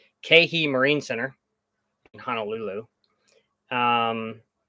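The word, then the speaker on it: Keehi: i always say it kihei so i have to tell myself okay he that's how i try to remember to say it right because i always say it wrong keihi marine center in honolulu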